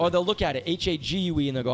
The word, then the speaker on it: Hague: Or they'll look at it, H-A-G-U-E, and they'll go, how do you pronounce that? I'm like, it's spelled like, Hague, rhymes with plague, rhymes with vague.